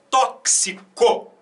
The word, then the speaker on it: tóxico: Esse X é pronunciado como um KS, né?